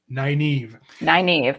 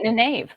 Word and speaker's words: Nynaeve: It is Nynaeve. Nynaeve. But I always called it Nineve.